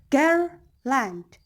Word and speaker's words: garland: For example, garland, garland. So gar, that's stressed syllable.